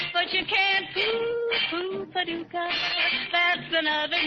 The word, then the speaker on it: Paducah: Paducah, if you want to, you can rhyme it with bazooka. But you can't poo Paducah.